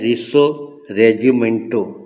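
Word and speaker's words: Risorgimento: तो इसको कहते हैं रिसो रेजिमेंटो।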